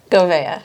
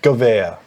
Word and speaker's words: Gouveia: Gouveia. Gouveia, there we go.